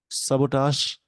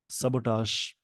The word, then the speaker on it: sabotage: सबोटाश, ये वर्ड का प्रोनाउंसिएशन ध्यान रखेंगे। सबोटाश, SABOTAGE।